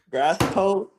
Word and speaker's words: Grassito: It's called grass toe. Grass toe.